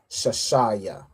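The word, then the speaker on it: shashiya: Now all of these are pronounced separately. So you'd say shashaya.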